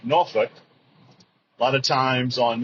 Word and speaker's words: Norfolk: However, if you're from Virginia, it's pronounced Norfolk. A lot of times on movies and TV shows, they'll say Norfolk, which is absolutely incorrect.